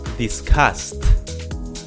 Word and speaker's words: discussed: Discussed. Discussed. The same way, this word finishes in the S, in like an S sound. Discuss. So the past is discussed.